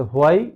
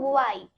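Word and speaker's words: why: তাহলে হোয়াই বলা যাবে না? নো। কি বলবো? আমরা বলবো ওয়াই।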